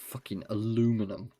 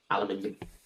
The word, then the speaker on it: aluminium: I don't give a about the Americans and how they pronounce things. aluminum bastards. Aluminium.